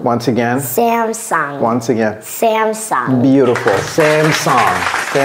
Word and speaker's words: Samsung: Can you help us pronounce this? They give you TVs and phones. Yeah. Samsung. Once again. Samsung.